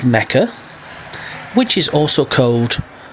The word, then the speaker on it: Mecca: He does his Hajj pilgrimage in the land of Abraham, which is called Mecca, which is also called Becca. In the Bible, it's called Becca, but it's actually pronounced Mecca.